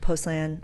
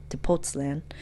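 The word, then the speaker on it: Tepoztlán: we went to tostand to postland I pronounced that incorrectly tootan is 2 hours south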